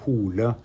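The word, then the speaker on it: Hole: our listeners correctly how how his name would be pronounced as a Norwegian that would be brilliant yeah well in in no his name is har hula hula being a common no name but in the first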